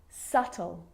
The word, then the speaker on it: subtle: think of these examples subtle depth and doubt so seeing all of those examples my lips aren't closing and coming together to form the B sound I'm just pronouncing the T subtle depth and doubt